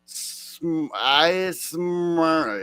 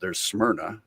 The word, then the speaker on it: Smyrna: southern accent tried spelling Smyrna. It was like Smyrna. Yeah, I didn't even know how to pronounce that the way you're pronouncing it. I've heard there's Smyrna, and there's Smyrna, and there's Smyrna. Like where I'm at, everybody talks kind of fast.